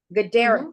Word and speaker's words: Guidara: It is by Will Guidara, Guidaara. I don't want to say it wrong. Gadara. Gadara, thank you.